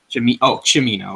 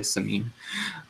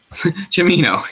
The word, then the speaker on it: Cimino: Gate, from director Michael, how do you pronounce that exactly, guys? Cimino? Cimino. Okay, yeah, I was going to say Simon, yeah, okay. Cimino, yes, Michael Cimino.